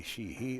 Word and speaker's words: Sheehy: So it's pronounced she, not Shield? I say she, he.